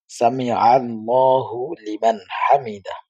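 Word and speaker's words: سمع الله لمن حمده: তখন আমরা কি বলবো আমরা বলবো সামি আল্লাহু লিমান হামিদা আমাদের অনেকেরই এটি শুদ্ধ হয় না অনেকেই সামি আল্লাহু লিমান হামিদা তো এখানে আল্লাহ শব্দের উচ্চারণ হয় নাই জিমের উচ্চারণ হয় নাই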